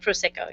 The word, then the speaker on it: Prosecco: Prosecco, yes.